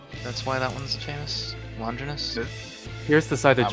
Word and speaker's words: Longinus: Deo said it right though. I He know. said- Oh, real? it's But, he said it's so right. Longinus.